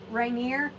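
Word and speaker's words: Rainier: This one was called Rainineer and it's spelled Rain I E R. So R A I N I E R like Mount Reneer.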